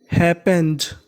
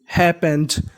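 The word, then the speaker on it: happened: की हो miss adventure हैपेंड हैपेंड पी दो बार है उच्चारण एक बार करना है हैपेंड विथ हिम लेकिन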